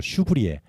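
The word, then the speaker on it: Chevrier: 철수 이런 이름인데 슈브리에 그러니까 좀 약간 프랑스식 이름이고 앙두 원래 이제 앞에 앙두 마리아 프랑스와 슈브리에 뭐 좀 길은데에 그걸 줄여서 그냥 앙 슈브 앙 안토니오는 그런 뜻이고요 안토니오 앙느 브러 발음으로 슈브리에 신부님이십니다 어 이분은 아직은 이제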